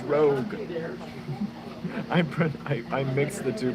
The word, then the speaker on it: Rogue: think it's mixing uh it's not Roe it's not Rouge it's Rogue I mix the two